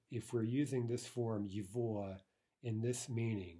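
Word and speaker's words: его: First of all, this first form is yivua, right? It's pronounced somewhat unusually.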